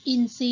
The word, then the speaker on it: อินทรี: ซอ เห็น ไหม คะ นก อินทรี ทร เป็น เสียง ซอ ก็ คือ อินทรีย์ เซา น่า ทร เป็น เสียง ซอ ใช่ อ่าน ว่า เท ราต์ นะ คะ ไม่ ใช่ นะ หัน ว่า เซา ทรุด โทรม พุทรา ทร จะ ออก เสียง เป็น ซอ เลย นนท์ 4 นะ